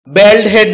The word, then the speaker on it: baldhead: বলড হেড এটাকে আমরা বেলডহেড বলে থাকি। যার সঠিক উচ্চারণ হচ্ছে বলড হেড।